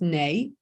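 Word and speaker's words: Nuy: So it's spelt new, pronounced nay, and it was a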